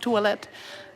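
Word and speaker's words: toalett: you come here and it's pronounced twilight so it's not that hard okay we'll go sit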